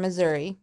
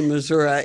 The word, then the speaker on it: Missouri: true Missouri that's true I do say Missouri and one of my best friends people make fun of me but that's true that's how the locals say it y I love it